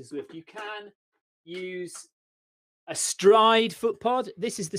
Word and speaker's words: Stryd: It's called a Stride. It's spelled STRYD.